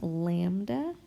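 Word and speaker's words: λ: So our givens are F for frequency, and this once again is pronounced lambda for our wavelength, and they are asking us for the speed, so V equals question mark.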